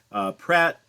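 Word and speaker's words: Praat: Pratt, which is actually pronounced Prat because it's Dutch. But you know what? I'm not Dutch. I'm going to say Pratt.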